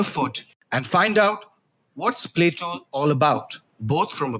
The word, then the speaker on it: Plaeto: getting it wrong no it's actually Plato and spelled with an additional e It's a combination of